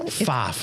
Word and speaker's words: Pfaff: PFAFF. How do you spell that? PFAFF. Everybody says it wrong.